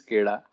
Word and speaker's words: SCADA: But the way it's pronounced is SCADA.